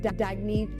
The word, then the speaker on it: Dagny: Oh, it's pronounced Dagny Dover.